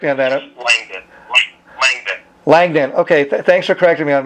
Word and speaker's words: Langdon: when you started the interview you kind of mispronounced my last name well go ahead correct me on that langdon thanks for correcting me on that um um